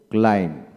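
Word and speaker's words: climb: এল আই এম বি কি হবে ক্লাইম্ব ক্লাইম্ব নট ক্লাইন্ড বি হবে না ক্লাইম্ব তারপর আসেন জে এম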